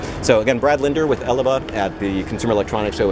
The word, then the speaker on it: Elebao: Elebao.